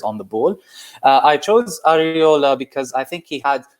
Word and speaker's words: Areola: How did you pronounce his last name again? Areola.